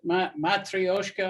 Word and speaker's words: matryoshka: The thing about it, Matryoshka, I guess, is more or less how it's pronounced.